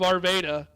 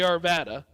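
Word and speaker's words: Arvada: Oh, the town of Arvda, which is actually Arvvada. Yeah, it's been mispronounced many times.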